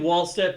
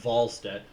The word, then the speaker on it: Wallstedt: And I keep saying Wallstedt, but the W is pronounced like a V, like Wallstedt.